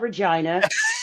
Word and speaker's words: Regina: Yes, it's called Regina and the city that rhymes with fun.